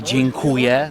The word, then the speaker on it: dziękuję: Thank you, let's say, would be dziękuję.